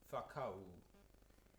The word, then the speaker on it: whakau: Whakau. So I've had to write it as whakau. I've had to write it like that just to show where we change vowel.